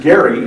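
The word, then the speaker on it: Gerry: forms then u.s representative eldridge gary and there's some debate about pronunciation that i've settled on that uh spoke what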